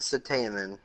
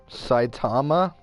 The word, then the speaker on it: Saitama: i was not watching this video i want satan i'm not pronounced alright i want one punishment essentially saitama yeah it's like tom i said satan then